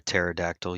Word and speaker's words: pterodactyl: Do you guys know why you can't hear a pterodactyl using the bathroom? Wow. Why? Because the P is silent.